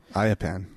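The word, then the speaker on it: Ayyappan: That's Ayappan. Ayappan. Yeah. There's too many A's, Y's, and P's in that name. No, there's the exact right number, I bet. Uh-huh. Anyway, Ayappan, just for some background for everybody, is a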